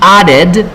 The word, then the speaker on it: added: Entonces, pues tendríamos ambos verbos, tanto present como add, tiene el sonido especial ed, que se pronuncia id. So we say, before she presented her project, she added more slide to her PowerPoint.